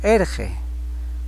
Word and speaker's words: Irji: Ejemplo: Irji, niño, se escribe con I pero se pronuncia como erge.